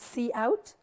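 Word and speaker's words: cout: we have line five what you have called see out so we normally pronounce it as C out this is an object used together with the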